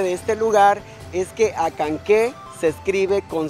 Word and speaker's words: Acanceh: Muy bien, entonces pues a seguir disfrutando de este bello pueblo que es municipio Acanqué.